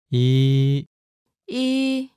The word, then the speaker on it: 이: Your first vowel is E. 이, This is pretty easy, right?